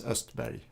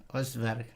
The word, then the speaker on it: Östberg: En sueco sería Östberg. Östberg.